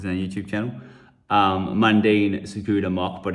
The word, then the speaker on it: Tsukuda: TSUKUDA. Someone said just don't pronounce the T. TSUKUDA.